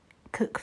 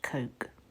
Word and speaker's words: Coke: I think that's the mausoleum for the Cook family. It looks like it's pronounced Coke, but it's Cook.